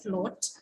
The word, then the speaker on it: float: and then the third one would be actually what we refer to as a diphthong okay like in the word float fl o a t